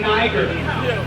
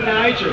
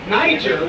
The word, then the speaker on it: Niger: x-13 want to say they say niagara for niger that's not the pronunciation of it because like i said